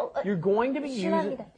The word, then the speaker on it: 실례합니다: It looks like it should be 실례, which is almost impossible to pronounce, isn't it? Yeah. How do you say 실례? Because the vowel is yeah. But what happens is, of course, it just ends up being pronounced 실례, 실례, 실례합니다, 실례입니다. Right.